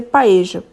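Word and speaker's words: paella: espanhola eu particularmente adoro que é chamado de paeja escreve para ela né como vocês estão vendo aí mas se pronuncia paeja é um arroz com frutos do mar como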